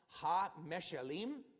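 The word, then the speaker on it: meshalim: And what I'd like to do, I would like to take a look at the meshelleem, or rabbanim. In other words, the parables of the rabbis. So that is pronounced meshelleem, rabbanim, the parables of the rabbis.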